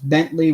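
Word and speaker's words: Bentleigh: I but nice and Bentley with the Ellie IgH but yeah it's pronounced like the car yeah Mickey that is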